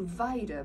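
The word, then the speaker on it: Weida: And then I've got the it's called Vida, but it's spelled D, no it's not, it's spelled W-E-I-D-A shorts.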